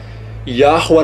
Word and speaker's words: Yahweh: O nome verdadeiro é Yah em sua raiz e o nome verdadeiro é Yahweh na sua pronúncia.